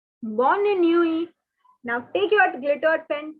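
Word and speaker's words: bonne nuit: saying good night say bonnie newey bonnie newey now take your glitter pen take a different color pen and cancel the t from while pronunciation because the t is not to be pronounced it's a diff it's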